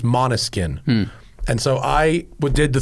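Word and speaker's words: Måneskin: I texted him and I go, someone's probably already told you this, but it's pronounced, I spelled it, I said like monotone, but mono, and he goes, actually I didn't know that.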